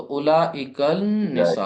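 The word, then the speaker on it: أولئك النساء: उलाइक तो उलाइक निसा अब लाम नहीं वहा पढ़ा जा रहा है उलाइक निसा क्योंकि नून कौन सा हर्फ है शमसी हर्फ है तो उससे पहले जो लाम आ रहा है वो प्रोनाउंस नहीं होगा अच्छा यह किताब वो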